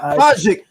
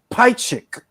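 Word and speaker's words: Pajkić: He got knocked down by Nevin Pikich. Who the fuck is Nevin Pikich? Bro, did you said his name right? You educated then, Chris. Not Pajik, Pikich.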